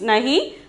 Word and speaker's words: नहीं: Then the ninth one is नहीं. नहीं. Pronunciation is नहीं. The meaning is no.